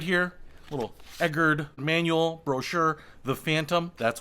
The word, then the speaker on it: Egard: I have said Egard in previous videos, but I believe it is pronounced Egard, kind of like Edgar, but Egard.